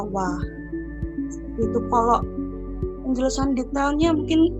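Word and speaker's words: は: Tapi memang di dalam kalimat bahasa Jepang sendiri untuk penulisan wa itu memang menggunakan huruf hiragana H, tapi dibacanya wa.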